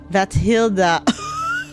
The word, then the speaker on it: Batilda: Batilda. Batilda. Bat Hilda. I want to pronounce it how it's spelled, but it but she says it's bat Hilda.